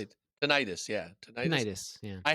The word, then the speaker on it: tinnitus: Uh, yeah, how do you say Tinnitus. it? Tinnitus?